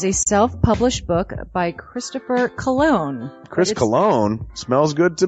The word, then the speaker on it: Colon: It is a self-published book by Christopher Colon. Chris Colon? Smells good to me. But look at her. That broke that fucking cold little exterior. He's like, hee. But it is spelled C-O-L-O-N.